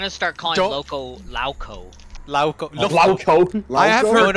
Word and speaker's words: Lowko: I have heard people pronounce it Lofko. Lofko is actually not uncommon. Lofko? Oh, what? Yeah, for Eastern Europeans and like Russians and stuff, like the W is a V.